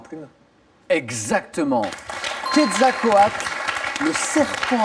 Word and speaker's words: Quetzalcoatl: Quetzalcoatl, le serpent à plumes. Exactement. Quetzalcoatl, le serpent à plumes. Et bravo pour la prononciation parce que elle n'est pas évidente.